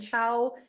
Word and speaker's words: Chao: welcome hi everyone uh my name is CH it pronounced like the ital Italian goodbye CH in case you wonder